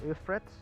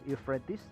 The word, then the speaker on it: Euphrates: we have a river efforts or it is pronounced as euphrates and on the eastern